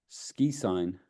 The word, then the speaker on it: SQIsign: Ski sign. Yeah, What is it? SQISIGN. No. So it's SQI pronounced SkiSign.